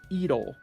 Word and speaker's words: iro: would read this as iro. Iro. Iro. It is an R sound, but it kind of sounds like an L sound. It's somewhere between an R and an L.